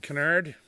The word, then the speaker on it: Kinnaird: his name is Steven Canard and it's the Irish spelling k i n n a i r d but they pronounce it Canard that's a good Southern